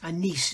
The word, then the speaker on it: Anise: It's not N-E-Z or N-E-Z, it's Anise is the way it's pronounced.